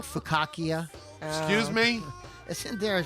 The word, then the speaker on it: focaccia: Oh, they spelled focaccia right on the thing here. Nice, that's tough. I make it, I can't spell it. Fukaki. I used to think it was fukaki.